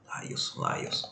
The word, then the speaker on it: Lailson: Lailson. Não é Laí, esquece.